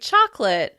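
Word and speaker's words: chocolate: When talking about this delicious cocoa treat, we usually drop the schwa sound in the middle, so it sounds like "choclit, choclit."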